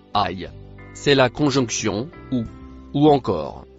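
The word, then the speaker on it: أي: Le premier en couleur noire se prononce aïe.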